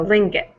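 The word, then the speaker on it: Tlingit: well but it's just link it is how yeah almost like the t is silent and then the G is a k so Ling it um so okay one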